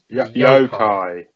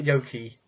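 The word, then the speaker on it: Yo-kai: yo watch next which is um I can't pronounce that yo yoai yoai not y not Yoki yoai it made me feel YY shut up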